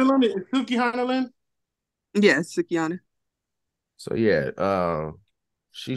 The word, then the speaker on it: Sukihana: It's spelled Suck. Sukihana. What is it, Lynn? Is Sukihana, Lynn? Yes, Sukihana.